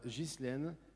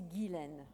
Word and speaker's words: Guilène: Alors, il y a toujours un piège dans mon prénom, c'est Guilène.